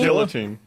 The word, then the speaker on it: guillotine: Guillotine. guillotine. There's two L's. What do you want? This is America. We pronounce our L's.